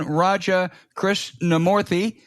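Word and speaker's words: Raja Krishnamoorthi: for sure foreign guest is Congressman Raja Chris namorthy we're a representative from Illinois and the top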